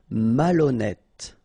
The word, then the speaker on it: malhonnête: Malhonnête. Okay, remember H doesn't exist, so malhonnête. Don't insist on the final E. Malhonnête. And here you get accent circonflexe, so you pronounce it like E. Malhonnête.